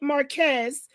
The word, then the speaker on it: Márquez: anyone speak to you the márquez's that's how you pronounce their name marquez the márquez's nor any